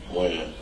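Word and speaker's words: Wynn: Win. Win? Or Wen? Win. Win. W-E-N or W-I-N? W-Y-N-N. W-Y-N-N.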